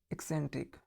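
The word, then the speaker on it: eccentric: यहाँ पे देखिए, यहाँ पे 3 बार सी है, इस सी का प्रोनाउंसिएशन होगा क, इसका स, इसका क, एक्सेंट्रिक, ठीक है।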